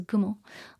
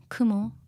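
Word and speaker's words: 雲: yumo instead of Kumo Kumo on its own is Kumo but since it's combined you know Kumo is pronounced gumo which is called um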